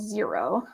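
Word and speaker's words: Xero: a bookkeeping software called zero I'll put that in the chat because it's not spelled like the number zero um I use zero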